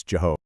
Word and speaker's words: Jehovah: So, what happened is much later on, scribes took the vowels from Adonai and kind of blended them with the consonants Yhw. And that's how we eventually got the pronunciation we know today as Jehovah.